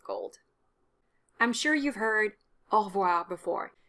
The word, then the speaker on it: au revoir: Definitely drop the E sound after the R, so au revoir. You go from 3 syllables to 2 syllables. It's standard spoken French, and life's too short, so just drop the E. Do pronounce the subtle R at the end of au revoir, because it would sound weird without it.